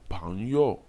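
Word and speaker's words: 朋友: La première syllabe P-E-N-G est constituée de l'initiale P et de la finale E-N-G. L'initiale P se lit comme dans le mot po en français.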